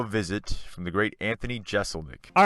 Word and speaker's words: Jeselnik: Do you feel like the pronunciation, though, is clearly S? It's clearly S. I mean, it should be. I remember I would always get mad when people say Jeselnik.